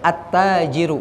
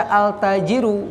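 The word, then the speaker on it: التاجر: ada Bu Bu Oh iya attajiru Hai jadi jangan lagi baca altajirun Hai yang kedua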